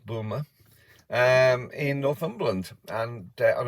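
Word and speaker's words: Boulmer: Air Force boom um it's spelled b-o-u-l-m-e-r Boomer um in Northumberland and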